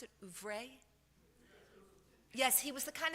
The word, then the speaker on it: oeuvre: He would immerse himself in the writer's entire, is this how you pronounce it, oeuvre?